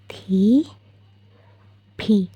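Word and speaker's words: 티비: লিখবো টিভি টিভি তো যেহেতু ট উচ্চারণটা কোরিয়ান অ্যালফাবেটে নেই তো ওরা সেটার বদলে উচ্চারণ করে থটা কিনা এটাকে ওরা টি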